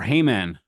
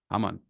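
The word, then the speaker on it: Haman: guy his name is hamon or hman hamon is the Hebrew pronunciation um he is a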